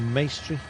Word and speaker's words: Maestri: Simeon finishing 11 seconds ahead of Mirko Maestri. Rhymes with pastry. Yeah, Elia Viviani, of course, won in 2022 at a mass sprint.